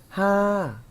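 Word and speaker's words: ห้า: 하 하고 발음했고요.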